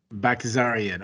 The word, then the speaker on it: Baghdasaryan: See, because you're the pronunciation guy. Melsik Baghdasaryan. Baghdasaryan.